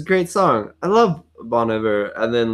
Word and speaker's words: Bon Iver: Bon Iver, how do you say it?